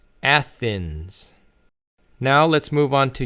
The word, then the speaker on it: Athens: So again, the pronunciation is Athens. Athens.